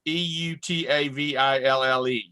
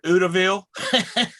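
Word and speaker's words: Eutawville: It's like Utahville, South Carolina. It's Eutaville. I've heard Utahville, Y'allville.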